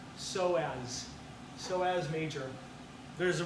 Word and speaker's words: psoas: ilium and then the psoas major you don't pronounce the pain another sign of P so as so as major there's a bursa so as